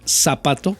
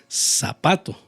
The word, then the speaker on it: zapato: Entonces yo puedo decir zapato que se escribe con z pero se pronuncia como si fuera s zapato sí puedo decir sol